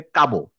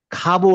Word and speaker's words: খাবো: না বলে বললাম আমি স্কুলে কাবো। কেউ বলে কাব। কাব কি? মানে তখন ব্যাপারটা হবে এরকম। কাব বলে তো কোন শব্দই নাই। খাবো আছে আমি জানি।